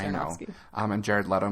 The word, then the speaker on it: Aronofsky: It's Aronofsky.